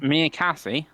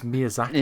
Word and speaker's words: Miyazaki: Miyakase. Is that how you pronounce it, Dave? It's Miyazaki. Yeah, But Miyazaki. Okay, Yeah.